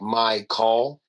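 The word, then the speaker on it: Mychal: not mine and then my actual name is spelled m y c h a l and he kind of had it so it's like my call as it'll always be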